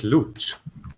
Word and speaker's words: Luch: My name is Luch, Luch. which is actually the tutorial translation of my real name. Rhymes with hooch.